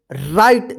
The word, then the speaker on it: right: चलिए यहां पे देखिए RIGHT, इसको क्या पढ़ेंगे, राइट। देखिए यहां पे अब यहां पे भी आई का आई उच्चारण हुआ है, लेकिन क्यों हुआ है, क्योंकि